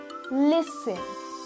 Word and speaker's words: listen: you do not pronounce the T in these words soften fasten listen whistle